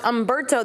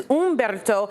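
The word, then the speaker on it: Humberto: So, we have Gabrielle, but this is not pronounced Ombberto. This is Ombberto.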